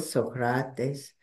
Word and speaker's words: Socrates: So this particular lecture is about Socrates, or the way the Greeks pronounce it, Socrates, as a prophet.